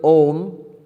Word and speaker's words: Om: The syllable Om, it can be analyzed into three sounds. A, U, Ma.